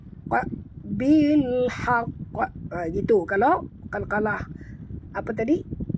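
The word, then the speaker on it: بالحق: Kalau Kalkalah Kubra, Qaf ini mati tanpa tasydid. Dan cara membacanya, kalau tak ada tasydid, bilhaq, bilhaq.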